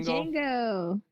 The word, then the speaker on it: Django: Hello, hey, Django. The D is silent.